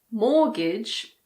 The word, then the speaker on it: mortgage: Christmas, mortgage, and soften. There's also often. In this word, some people pronounce the T and some people don't.